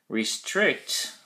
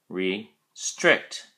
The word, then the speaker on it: restrict: at your flash card restrict has two syllables restrict and the emphasis or stress is on the second syllable strict and there's a